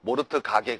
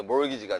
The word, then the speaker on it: mortgage: T가 묵음이에요. T가. 알겠죠? 모르트 가게 그러지 말고 알겠어요, 여러분? 그래서 이게 몰기지가 되는 겁니다.